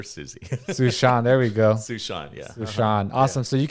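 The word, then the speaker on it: Suesean: handle which is at sushant and sushan is spelled s-u-e-s-e-a-n like the name sue and the name sean but put together so at sushant awesome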